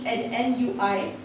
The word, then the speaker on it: ennui: The first word, although it is written as ENNUI, but the pronunciation is ennui.